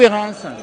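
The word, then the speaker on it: Hérens: On dit Hérin ou Hérins? Alors, nous, en France, on va prononcer le S. Les Suisses ne prononcent pas le S.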